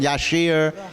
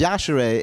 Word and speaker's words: Yashere: my name these idiots I know they're doing yashir Yash you know and you told them so many times yashere easy name right easy